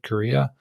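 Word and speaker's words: Carya: we didn't really talk about that, but it's Korea. Is that how you say it? Right, Korea.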